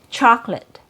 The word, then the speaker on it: chocolate: So we don't have three syllables when we hear the word chocolate.